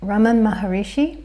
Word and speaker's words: Ramana Maharishi: Now I pronounce it Ramana Maharishi because that's how my mum pronounces it, and she has told